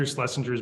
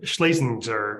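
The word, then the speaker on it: Schlesinger: was really into Arthur slessinger's book when I was in college or schinger I think is how you actually pronounce his name son slesinger uh and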